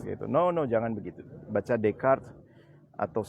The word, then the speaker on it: Descartes: Bacanya Descartes ya, jangan Descartes gitu.